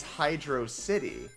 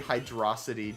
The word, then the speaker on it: Hydrocity: percent because it's it's it's spelled as if it's Hydro City but it's one word and so the hydro City the hydro City hydrosity debate will go on